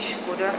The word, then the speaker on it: Škoda: Au début, c'était pas Škoda, la prononciation tchèque est Škoda, c'est pas Skoda, mais c'est Škoda.